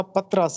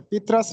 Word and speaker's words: پطرس: تو پہلی بات تو یہ ہے کہ یہ درست تلفظ اس کا پطرس ہے، پطرس نہیں ہے۔ پطرس بخاری، سید احمد